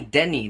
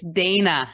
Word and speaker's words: Dehne: name is a Denny did I say your name correct h no that's okay it's Dana oh my gosh Dana well Dana is spelled D e h n e I've never seen it